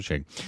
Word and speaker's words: Shahid: It's Shahid, like Shahid Kapoor. Okay. Just over Shahid.